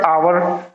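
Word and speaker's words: hour: तो इसी तरह से आवर, आवर, आर का मतलब आवर क्या होता है, घंटा, यानी इसमें भी एच जो है वो साइलेंट है और ओ की साउंड जो है वो आ रही है, तो आवर, आ।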